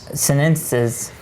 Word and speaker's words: sinensis: And then we have the White Monkey Sinuses, sinensis from Got all David sensitive Prager.